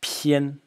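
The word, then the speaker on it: 篇: Next character in the series, pronounced pian.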